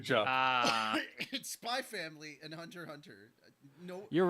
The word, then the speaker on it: Hunter x Hunter: ah spy family and Hunter Hunter no you're right spy X family and Hunter x Hunter yeah exactly you're not supposed to pronounce the X exactly so spy X